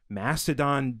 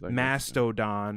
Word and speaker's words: Mastodon: The name is three syllables. Or Republicans. Mastodon.